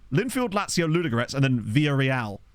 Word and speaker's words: Villarreal: Linfield, Lazio, Ludogorets, and then Villarreal, where you don't even pronounce the L's.